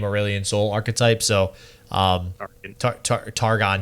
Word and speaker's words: Targon: to also combo with targan to be a control late-game aurelian soul archetype so um targon jeez i don't know why i said target like you tried to pronounce it like dragon yeah i think that's